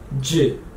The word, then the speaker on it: ج: One dot inside, j. J. J. And then next one, three dots inside, ch. Ch. Like cheese. Ch. Ch. So to recap, without any dots, h. H. One dot inside, j.